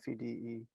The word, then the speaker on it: Fede: Fede.